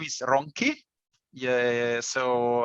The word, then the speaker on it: Ronchi: in italian uh yes my last name is ronki yeah so it's very difficult for for a native english speaker to pronounce it well don't worry yeah from italy